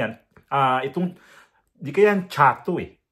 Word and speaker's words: Chatto: ah itong di kayaan chatu eh kasi ang tamang pronounce is chatu yan ang tamang pron kasi double t so ito si Edgar